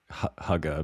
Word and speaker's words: hygge: So that's kind of very huga me. How are we pronouncing it again? Like the name Hugh and then I mean if